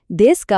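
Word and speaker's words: ですか: এখানেও খেয়াল রাখবেন দেসকা বলার সময় শেষের ইউ উচ্চারণটা কিন্তু একদম সাইলেন্ট থাকবে।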